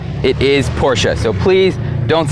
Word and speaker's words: Porsche: its Porsche guys not Porsche I hear a lot of people saying Porsche and that really drives me nuts because it's a German company and you pronounce the e it is Porsche so please don't say